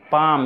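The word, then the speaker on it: palm: झाऊ, conifer, conifer, ताड़, पाम इसमें L silent है, टहनी या डाल, ब्रांच,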